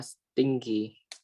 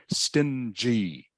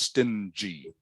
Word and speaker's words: stingy: thing and the last one anji can you pronounce this word anji ah stinky almost almost yes yes it looks like Sting okay but it's actually pronounced um stingy stingy okay I know I know it looks